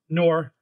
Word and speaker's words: Noir: Is that how you pronounce it? Noir, yeah.